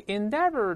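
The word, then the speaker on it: endeavour: 这个白颜色的还是句子主干。We endeavor to avoid, 但 endeavor 用的是英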